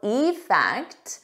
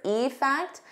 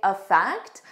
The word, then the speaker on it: effect: Now, effect. Notice here, when I say the individual word, effect, I stress that E more, but in a natural sentence, I would just say effect. I wouldn't stress it as much, so it will